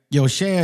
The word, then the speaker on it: Yosha: Y'all can call me Joshua Yosha or, right? Yosha. It's almost like Hosea, just change the H to the Y.